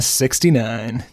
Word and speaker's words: 6ix9ine: and I are gonna 69 - I heard that right no you didn't do any of that right I was worried this would happen we're talking about 6-9 as it's pronounced formally Takeshi 6-9 formerly